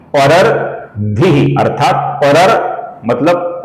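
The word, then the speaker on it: परर्द्धिः: परर्धिः, परर्धिः अर्थात परर मतलब ओ र के बाद अपूर्ण र, फिर अपूर्ण द और फिर धी।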